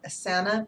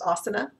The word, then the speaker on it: Asana: Asana, I guess the programmers call it Asana, but the word is actually pronounced Asana, which I know because I do yoga.